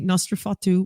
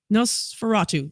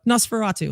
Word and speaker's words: Nosferatu: all day every day the movie nostrafatu what does that say no i can't i remember no how do you say that nosferatu there we go nosferatu i couldn't remember is